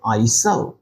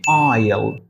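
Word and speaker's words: aisle: আই এস এল ই এটার উচ্চারণ কি হবে আইস না এটার উচ্চারণ হবে আইল আইল আইল বলতে আমরা যেটাকে বোঝাই সেটা হলো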